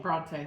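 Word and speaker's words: Brontë: Bronte? Bronte, that's what I thought.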